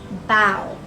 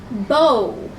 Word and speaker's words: bow: be Oh W now if this word is a verb battle bow if it is a noun bow bow so bow is the verb and bow like a